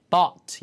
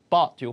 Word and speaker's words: bought: 때 저희가 연습을 했죠 바의 과거는 보트라고 발음하시면 망합니다 아예 못 알아들어요 배처럼 들려요 보가 아니라 bought 입을 버리세요 bought요 발음 주의하세요 거 많이 나오니까 I bought 입을 버리세요 i bought i